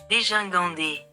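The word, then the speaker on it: dégingandé: Non, c'est déjà ça se prononce des guinandé. Attendez. Attendez, attendez. Déjà. Ahah. Voilà. Déjingandé.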